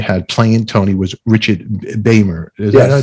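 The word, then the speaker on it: Beymer: and then you had playing tony was richard baimer yeah i pronounced it yes beamer and and did they not get along what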